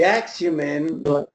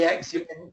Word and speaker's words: Axumin: The Axumin, which is the one we were just talking about, I think you asked about, Bill, it's spelled AXUMIN, is more advanced F-18.